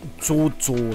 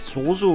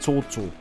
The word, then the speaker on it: Zozo: Ja, das heißt Zozo, nicht Soso oder Susu oder so, das ist Zozo. Ja, weil es ist ein Z.